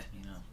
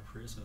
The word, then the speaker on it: Pasmino: That's how you pronounce the last name. Yeah. Pasmino. With a P. Been calling her Pariso since I met her.